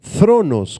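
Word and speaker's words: θρόνος: la palabra trono es la palabra griega thronos con th y acento en la o thron y es el lugar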